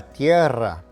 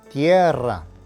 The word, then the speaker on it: Tierra: for Earth is La Tierra note that the emphasis is on the E and that the Double R needs to be trilled Tierra tip number two the